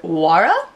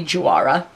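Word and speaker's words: Juara: it's by the brand wara I think is how you pronounce it it's j u a r a so I'm pronouncing or I'm guessing you don't pronounce the J but it could be Jara but that just sounds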